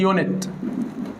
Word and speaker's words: unit: طب انا دخلت الامتحان لقيت الراجل كاتب لي، بص حابب يشتغلني، كاتب لي يونت.